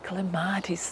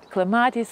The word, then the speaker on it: clematis: I look at those shy clematis there. You know, some people say clematis, clematis, it's the same. Pronunciation can be dual.